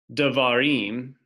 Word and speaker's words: Devarim: So if we have a word like Devarim, even though it's not written, the accent is going to be at the end of the word, which is down here,